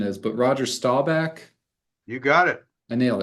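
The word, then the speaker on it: Staubach: name because I don't really know where the pronunciation is but Roger stabach you got it I nailed it okay I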